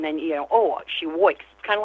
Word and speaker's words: Woik: Well, my last name is pronounced W. And how I say that is I wake all day and I wake all night. And that is about correct.